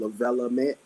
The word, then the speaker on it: Lavellement: So so it's pretty much my first name attached to element. So the way I pronounce the project is called Lavelament, and that is an issue I want to get off my periodic table.